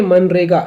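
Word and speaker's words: MGNREGA: employee scheme is called तो मनरे का बोलते हैं पर स्पेलिंग क्या होता है इंग्लिश में एम जी एन आर ई जी ए ओके मनरेगा जी साइलेंट होता है तो नेक्स्ट देखते हैं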